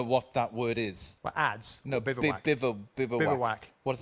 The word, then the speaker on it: adze: An adze. How do you spell that?